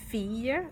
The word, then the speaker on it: fille: So like fille, like a girl.